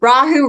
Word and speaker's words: Rahu: refer to as rahu rahu rhymes with Yahoo but it means the